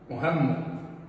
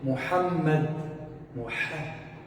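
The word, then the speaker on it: محمد: Tem pessoas que falam Muhammad. É incorreto. Certo é falar o quê? Muhammad. Muha. Não é Muhammad, como a maioria das pessoas pronunciam. É com essa letra, o Ha.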